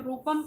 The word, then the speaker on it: रूपम: channel है आर ओ ओ पी ए एम रूपम ये है और मेरा नाम भी यही है